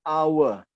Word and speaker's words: hour: And then an honor, ya, the H is silent, ya, H-nya tidak dibaca. An heir, an honor, an hour, ya. H-nya silent.